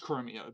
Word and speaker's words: Chromeo: Spelled like CHR? Yeah, like chrome and then the word O at the end. Not the word, the letter O. Chromo. The word O. It's pronounced Chromeo, but yeah.